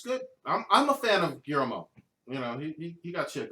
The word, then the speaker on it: Guillermo: Guillermo del Toro. You can't pronounce Guillermo? No, I can't. Just pretend the L's aren't there.